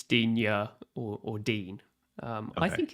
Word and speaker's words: Digne: It's Dean, not Digne, or however you pronounced it.